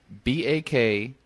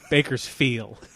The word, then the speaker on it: Bakersfield: He leaves off, well, let's just spell it. Bakersfeel. Bakersfield.